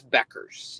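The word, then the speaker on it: Bueckers: how do you say is it Beckers it's Beckers yeah okay Beckers shout out to Paige beers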